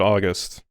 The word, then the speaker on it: August: pair up to no you actually just pronounced it August I I thought it would be like a gus like Augustus but no just August What's It Gonna Do